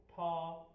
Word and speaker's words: 他: Hello friends, today's word is tha, tha, tha. Its sound, pronunciation or opinions are written as tha.